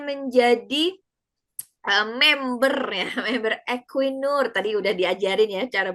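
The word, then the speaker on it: Equinor: Dan yang terakhir ini beliau kemudian menjadi ee member ya, member equinur. Tadi sudah diajarin ya cara bacanya ya.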